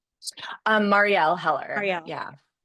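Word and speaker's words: Marielle Heller: and the script that Marielle, how do you pronounce her name? Um, Marielle Heler.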